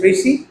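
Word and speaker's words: précis: इस वर्ड की जो प्रोनाउंसिएशन है that is प्रसी एंड समटाइ्स इट is also pronounced eight प्रसी। प्रसी और प्रसी depending on हाउ you pronounce it. This word और the word प्रिसी comes from French language. प्रसी जो है वह फ्रेंच लैंग्वेज से ली गई है।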